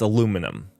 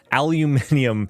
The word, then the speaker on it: aluminium: one thing that the that I mispronounce and I'll give it to the British is probably correct but it's aluminum we just need to change how it's spelled we just need to change how it's spelled like that's the optimal solution aluminium is like yeah I get that it's spelled that way but you know